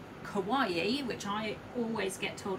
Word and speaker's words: kawaii: now kelly will tell you this is called kawaii which i always get told off for saying it wrong kawaii okay so that's that one we'll leave that